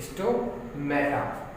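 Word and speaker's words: stomata: हाँ, ये जो ओपनिंग है इसको बोलते हैं स्टोमाटा। क्या बोलते हैं? स्टोमेटा। माटा वैसे ही प्रोनाउंसिएशन क्या है इसका? स्टोमेटा, ठीक है।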